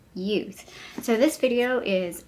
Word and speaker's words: Yeouth: youth it is pronounced youth i did find a video it's called it's pronounced youth but it's spelt y-e-o-u-t-h and their products can